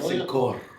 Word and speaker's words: cinco: You gotta roll your All R. right. So it's a case. You do gotta roll your R. Cinco.